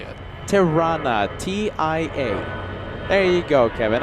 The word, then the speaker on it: Tirana: Tirana.